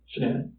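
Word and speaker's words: Shanann: yes and I don't want to pronounce her name wrong Shen name shanan shanan okay so the police have shannan's phone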